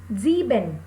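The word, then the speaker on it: sieben: six is sex six sex here the pronunciation pronunciation of s is zo so we said sex next seven zeben seven zeben then eight act eight act nine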